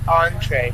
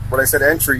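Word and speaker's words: entrée: So, how do you pronounce that again? Entree. Entree? Yes. All right. So, like, when I asked you the first time, when I said entry, you didn't know what it was at all, right?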